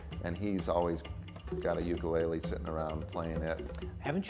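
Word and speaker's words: ʻukulele: Hawaiian correct pronunciation is ukulele put a little apostrophe in front of the U for that sound ukulele ukulele jumping flea wait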